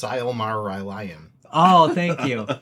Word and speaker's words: Silmarillion: you it's pronounced Silmarillion. Oh, thank you. Silmarillion.